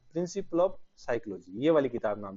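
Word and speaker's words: Psychologia: हिंदी में लिख रहा हूं मैं ताकि ध्यान में रहे कि इसका प्रोनाउंसिएशन अपने को कैसे करना है। साइकोलॉजिया।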